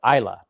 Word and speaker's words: Isla: Oh, it's Isla. Sorry. So yeah, see, good for Wayne for, sounding it out for people. I thought it was, I pronounce names wrong all the time. It's Isla. So there you go.